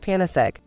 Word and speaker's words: Panacegg: remedy for all difficulties we combine this with the word egg and so it is pronounced panasek and so what is